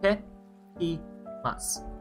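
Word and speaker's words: いってきます: When you hear itekimasu, 99.9% of the time it's going to be itekimasu with the small break in between, the e and the te.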